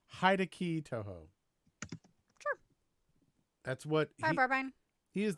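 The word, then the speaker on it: Hideki Tojo: i believe it was i believe that's pronounced hide-a-key touhou sure that's what he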